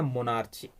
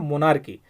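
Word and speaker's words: monarchy: वाले सरकार होता है उसको बोलते हैं मोनार्ची, मोनार्की। उसके मेन प्रोनाउंसिएशन होता है मोनार्की।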